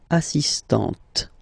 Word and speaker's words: assistante: So don't pronounce the final T here. But for the feminine form, elle est assistante.